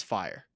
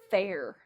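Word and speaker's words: Feyre: try to pronounce it f e y r e f y r e yep that's fire gotta be I think it's fair fair nah I'm pretty sure I've heard people say that gotta be fire give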